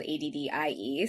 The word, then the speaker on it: ADDE: And her name is spelled ADDIE. So it was actually, but it worked out perfectly. And so we called it the Addie bill for short, but it's SB 68.